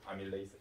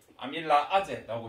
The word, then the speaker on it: 아밀레이스: 아밀레이스 발음은. 영어로는 똑같다. 그래서 전공 영어는 바뀐 게 없는데 한글 표기할 때 이렇게 하자라고 약속을 바꿨어. 선생님도 옛날 사람이 계속 이렇게 말할 수도 있거든. 그러면 아밀라아제라고 해도 아밀레이스구나 이렇게 이해를 좀 해주십시오.